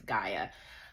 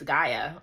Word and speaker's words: Gaia: Gaia. You pronounce it as Gaia. Um, I feel like Annabeth would have been like, "It's Gia."